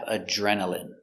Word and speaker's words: adrenaline: Next, we have adrenaline. Adrenaline. Remember, I here is pronounced in adrenaline.